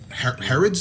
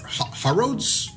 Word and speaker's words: Harrods: This happened in a big British store called Harrods or Harrods? Harrods? I think it's the way British people pronounce hair rod.